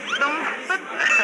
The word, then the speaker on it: dompet: Dompet. Dompet. Do you pronounce dompet?